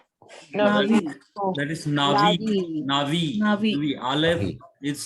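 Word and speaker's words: נביא: Again, Aleph is a silent letter and it shows its presence.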